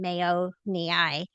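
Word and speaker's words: Borrelia mayonii: This one we called Brellia Mayoni and we named it after the Mayo brothers. So mayo and mayo mi is how you say it.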